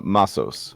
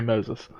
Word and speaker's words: Masos: pronounce the dragon's name the dragon's name um uh masos masos okay because I was about to say Moses seeing masses indiscriminately attacked